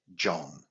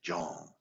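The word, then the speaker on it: zhong: and then we say John so in Chinese that's written z h o n g but it's kind of pronounced with the d j o n g like Django John okay so we say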